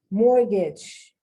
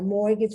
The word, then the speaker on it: mortgage: you students right students i don't think i'm pronouncing the t i don't sound like complimentary depot i've already done that mortgage a mortgage for your house um that comes from more